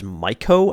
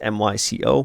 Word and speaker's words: Myco: So I think that if I was the developer, which is Myco, I believe that's how it's pronounced. It's M-Y-C-O, Myco.